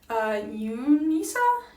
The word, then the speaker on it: UNISA: Unisa?